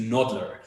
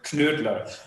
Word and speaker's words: Knödler: In English-speaking countries, normally this translates to noddler. So basically, kind of just like in all English-speaking countries, I run like nodder, but since it's a German name. And we pronounce the K, which is a Knödler.